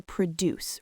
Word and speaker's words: produce: The stress is on the second syllable, right? But when we're talking about fruits and vegetables, the stress moves to the front. It becomes a noun.